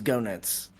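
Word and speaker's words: Goenitz: name differently yeah I I've heard gut I've heard genit I've I'm pretty sure the the the proper pronunciation is is gonuts um or which is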